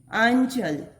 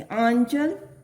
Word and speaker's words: आंचल: आंचल, आ है ना, तो इसका उच्चारण नासिका द्वारा होना चाहिए। आंचल।